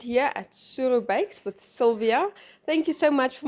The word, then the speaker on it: Sylvia: Yes, well, there's this joke that the Ovambo-speaking people don't know how to pronounce Sylvia. So Sylvia is typically known as Suruvia, which is Suru in short, and so that's basically my nickname.